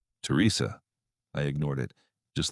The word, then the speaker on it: Teresa: Exactly like Ray, the same cadence, the same accent, the same way he pronounced my name with the emphasis on the second syllable. "Teresa, please, I'm hurt.